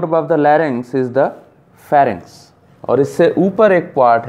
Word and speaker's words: pharynx: The tabular part of the throat above the larynx is the pharynx. और इससे ऊपर एक part है जिसको हम क्या कहते हैं, pharynx, which rhymes with larynx and produces a very high score at Scrabble.